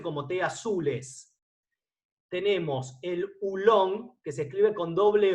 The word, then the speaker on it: oolong: Tenemos el oolong, que se escribe con doble O, O-O-L-O-N-G, oolong, con dos O que en inglés se pronuncian las dos O como si fueran una U, ¿sí?